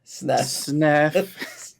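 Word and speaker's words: Sneff: How do you spell that? S N E F. SNF. Sniff.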